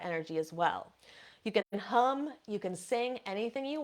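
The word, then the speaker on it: ham: So this seed sound for the throat is spelled H-A-M, but it's pronounced hum.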